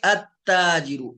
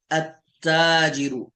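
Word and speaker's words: التاجر: तो जब पीछे वाले के साथ मिलाएंगे इन पर, वैसे तो पढ़ेंगे हम ताजिरुन, दाखिल करेंगे तो अब देखिए अत्ताजिरु, लाम क्या हो गया यहाँ, साइलेंट हो गया। तो इसमें लाम नहीं पढ़ा जाता।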